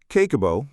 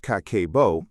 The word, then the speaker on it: Kakeibo: Kakeibo, pronounced Kah-keh-boh, is a Japanese household budgeting method developed in 1904 by Hani Motoko, one of Japan's first female journalists.